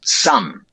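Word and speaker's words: son: Because the letter O, that could be the letter O in the word S O N, which is sum, the strut vowel, right?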